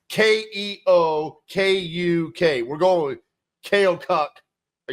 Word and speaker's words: Keokuk: It's Keokuk.